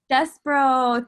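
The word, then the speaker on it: Despereaux: How do I pronounce it? Despero. Despero.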